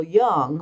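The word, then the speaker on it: Jung: Now, his student Carl Young, by the way, that's J U N G, but it's pronounced as if it were a Y.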